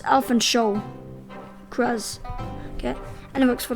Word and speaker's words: Alphonse: Pronouncing the sound is very important. He gets offended if you pronounce it as Alfonso, because it's Alphonse Cross.